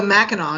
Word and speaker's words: Mackinac: malt single hop and it is showcasing The maak Hop which is a hop out of Michigan so Mao is how you pronounce that Ma oh you don't have you